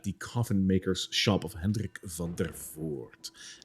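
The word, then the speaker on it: Henrik van der Voort: coffin makers shop of henrik van der forte which by the way is a dutch name so that's how you pronounce it correctly for all of you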